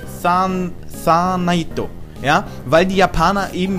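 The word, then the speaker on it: サーナイト: dann in Katakana umgeschrieben, aber japanisch ausgesprochen wird es im Grunde Sanaito, ja, weil die Japaner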